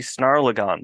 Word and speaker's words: Snarlagon: of words images and worlds this is the snarlagon version the snarlagon Edition did I get that pronunciation you did you nailed it perfect perfect